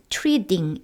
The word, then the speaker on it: treating: t가 모음과 모음 사이에 들어가면요 드처럼 발음이 납니다. God is treating 이런 식으로요.